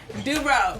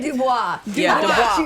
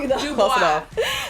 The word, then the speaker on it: DuBois: Mrs. Dubrow. Did I say her name right? No, Diana Dubois. Dubois.